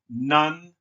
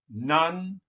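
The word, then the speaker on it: Nantegua: So that means, well, that's pronounced Nantigua. Nantigua.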